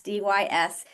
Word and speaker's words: dysphasia: So there's dysphagia is spelled Dysphagia, but there's something that sounds very similar, which is dysphagia with an S, Dysphasia.